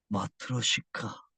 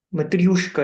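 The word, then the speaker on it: 마트료시카: 우리 몸은 러시아인형 마트로시카. 갑자기 러시아 인형이 나와서 물어봐야 되겠다고 생각했어. 이거 발음 어떻게 합니까? 마트로가 아니고 마트리오가 맞고요. 마트리오시카 이렇게 합니다.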